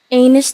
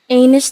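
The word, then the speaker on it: Aenys: though one thing to make clear about the pronunciation of one of the characters names Amos the first Targaryen that's right Amos the first time aerion Targaryen I did not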